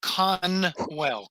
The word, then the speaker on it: Conwell: uh is it cross how do you pronounce the last name just so I can make shorts right okay it's con well Conway Conwell so Conwell um you've had